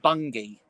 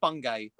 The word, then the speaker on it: Bungay: can have a look it's pronounced bungie yeah she's i've i said bungay sorry it's it's my accent and it's damien's inability to actually pronounce him with words because he's from essex yeah i i've i just about talking to his show yet pretty much it's a hard g she's saying k saying